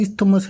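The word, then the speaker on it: isthmus: lagoon cap straight या इस्तमस इसमें T silent रहता है इस्तमस है ये जो एक ग्रीक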